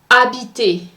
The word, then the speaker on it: habiter: Habiter. The ER at the end of that word is pronounced E. So the R is silent.